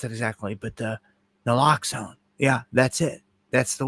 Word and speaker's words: naloxone: And see, that's what I didn't know how to pronounce it exactly, but naloxone.